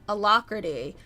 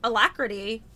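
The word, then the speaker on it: alacrity: I always pronounced it elacrity. I looked it up and it had the ae which is the apple sound. Ah, so it's it's elacrity technically.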